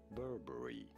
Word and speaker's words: Burberry: about pronouncing this name Burberry bulbury you do want to stress on the first syllable ah stress on the